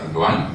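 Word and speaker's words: Erdoğan: Perdana Menteri Turki nama Erdogan, tapi pronunciation-nya Erdogan, ya.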